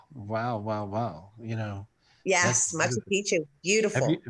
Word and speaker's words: Machu Picchu: lot of spiritual gifts in peru you have montse pichu and all this other stuff right yes yes wow wow wow wow you know yes machu picchu beautiful how do you say it i always